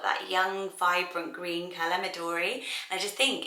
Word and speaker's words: Midori: would you say that would you say midairy but i was saying midori um how i'm saying it but it's a japanese name so really the pronunciation will change from around the world and it's a green